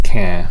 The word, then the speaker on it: Caen: Caen, spelled C-A-E-N, rhymes with Lopin.